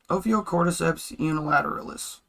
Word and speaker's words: Ophiocordyceps unilateralis: So, there is this fungus, Can you just pronounce it? Ophiocordyceps unilateralis.